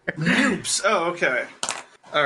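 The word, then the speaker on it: NUPES: Nukes? Like you say it nukes or noose? How do you say it? Neither. Noops.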